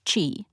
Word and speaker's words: qi: looked it up for the chinese q i pronounced chi is the life force